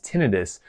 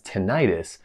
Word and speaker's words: tinnitus: however you pronounce it usually pronounced in the medical field as tinitus but often pronounced by the public as tentis so which one is